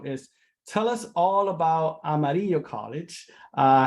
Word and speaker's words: Amarillo: by the way of amarillo how do you pronounce it we say amarillo amarillo and amarilla love it well thank you so much